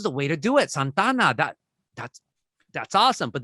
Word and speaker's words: Santa Ana: my response is like i pronounce it how the natives do and that just messed with people even more because if you're white from santa ana then i'm telling you that you're not a native if you're pronouncing santana and not santana you know so and